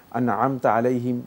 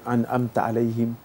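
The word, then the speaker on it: أنعمت عليهم: এখন তিনি যদি ভালো করে আনআমতা আলাইহিম এভাবে না বলতে পারেন, তিনি যদি আনআমতা আলাইহিম এভাবে বলে ফেলেন, মানে এটাকে আইনের উচ্চারণটাকে সরিয়ার উচ্চারণ করে ফেলেন, তাহলে সালাত বাতিল হবে না।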